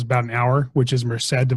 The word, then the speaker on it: Merced: Okay, and Merced, is how you say that one? MERCED? Mm-hmm. Merced.